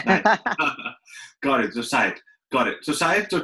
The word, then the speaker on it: Syatt: Is it Syatt? Yeah, it's Syatt. It's like the Hyatt Hotel, but with an S.